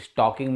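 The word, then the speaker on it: stalking: रखो स्वस्थ रहो कुछ स्टॉकिंग में एस टी ए ल के आई एन जी स्टॉकिंग बोलते हैं इसको ल इसमें साइलेंट होता है और यह अपराध है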